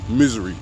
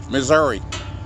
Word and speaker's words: Missouri: and st louis misery when you're from saint louis it's pronounced misery when you're a tourist you say missouri pronounce misery but anyway